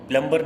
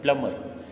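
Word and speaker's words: plumber: प्लम्बर is wrong, प्लम्बर नहीं पढ़ते हैं, प्लमर।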